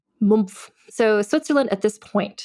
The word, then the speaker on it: Mumpf: She was born on the road, basically literally in Switzerland, in the Swiss town of Mumpf, which is spelled Mumpf. Spelled like it sounds. Mumpf.